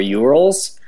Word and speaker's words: YOURLS: One of the great things that we added is support for URLs, which is spelt YOURLS.